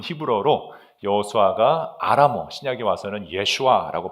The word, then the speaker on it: 예슈아: 참 신기하게도요.이 여호수아라는 그 이름은 히브어로 여호수아가 아라모 신약에 와서는 예슈아라고 발음을 하는데 그게 바로 예수 이름입니다.